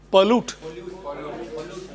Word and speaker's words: pollute: The word should be pronounced pollute. Pollute, and if you extend the word, it should be pollution.